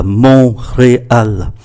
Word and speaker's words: Montréal: Và có thủ đô là Montreal, chúng ta phát âm là Montreal.